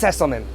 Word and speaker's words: Sesselmann: Sesselmann.